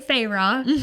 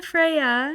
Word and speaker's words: Freya: have Freya MH and I've been seeing people kind of say farro but it was a Freya named after the goddess and then we have